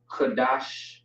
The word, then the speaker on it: Qadash: D and the Sh, which is gonna be dash, not dash necessarily, but it looks the same, just pronounced differently. Qadash, and then we have